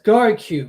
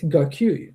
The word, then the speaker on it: Gau: I want to say garu but it's gou whatever.